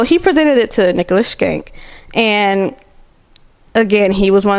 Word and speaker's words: Schenck: It's Skank. It's hard to say because it's not Skank, but it's SCHENCK.